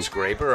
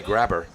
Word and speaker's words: Graber: with a long throw i think it's scraper i remember her sister insisting it's a long a in the name don't call me grabber he probably wouldn't like that either heck it's 2022.